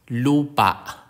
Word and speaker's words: lupa: last syllable or malumi some words of stress on the last syllable this can be indicated in written Filipino you using a diacritic mark called AWA examples Lupa which is Earth or soil Lup Anan